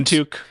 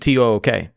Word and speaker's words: toque: No, it's a toque. I would have assumed TOOK.